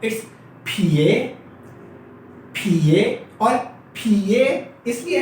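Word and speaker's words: 撇: है, उसका नाम है फिए फिए फिए। अच्छा, चाइनीज लैंग्वेज में आप पी को इंग्लिश के पी की तरह नहीं पढ़ते, लाइक ये पिए नहीं है, राइट। इट्स फ इट्स फिए फिए और फिए इसलिए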